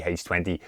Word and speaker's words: H20: I always say H2O, but I believe it's supposed to be H20, the way you pronounce it.